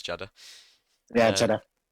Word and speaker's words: Jeddah: Did I say it right this time, Durus? It is Jeddah.